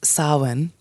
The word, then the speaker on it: Samhain: ancient Celtic Festival of Sinn spelled s a m ha a i n so nothing it's not pronounced anything like the way it looks but pronounced Sinn and sinin is a